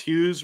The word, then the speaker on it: Hughes: Bing Tang Warrior says Hughes rhymes with lose.